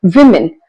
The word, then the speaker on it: women: But at least error one man more than one men e men the same women pronunciation changes to women. women.